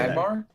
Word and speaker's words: Magmar: Piloswine, or Piloswine, or how do you say Magmar? That? Magmar.